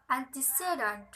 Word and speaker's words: antecedent: When two-syllable prefixes from a word of four or more syllables, there is usually secondary stress on the first syllable, no stress on the second, and primary stress on the third. The examples is antecedent.